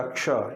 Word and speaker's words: क्ष: लेकिन जब आप इसका उच्चारण करते हैं ना, तो ये श का उच्चारण इसमें नहीं होता, क्ष, ये छ का उच्चारण प्रतीत होता है क्षत्रिय वाले का, क्ष।